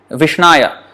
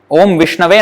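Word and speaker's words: विष्णवे: So some people may not Vishnaya. Actually Om Vishnave Namaha is the correct way to say the grammar of Sanskrit.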